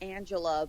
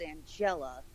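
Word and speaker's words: Angella: then queen ant and i always mispronounce her name and always wanted to say just Angela because I talk you say the way was written but it's an jela and they gotta put the emphasis on the right letter manages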